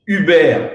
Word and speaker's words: Herbert: africa land policy center my name is herbert i might need to pronounce also in french uber withdrawal and i'm your